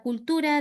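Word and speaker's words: culture: Bueno, la culturé de la terre, no pronuncio la e final.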